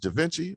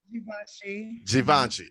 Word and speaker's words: Givenchy: but your name just is it called pronounced davinci or gavinchi givenchy okay see i'm saying so